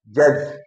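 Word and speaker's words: judge: बाद जी ई आता है, तो डी का उच्चारण नहीं करते। जैसे ब्रिज, जज, जैसे ब्रिज, डी आया, डी के बाद जी आया है, इसलिए इसका उच्चारण, डी का उच्चारण नहीं करते।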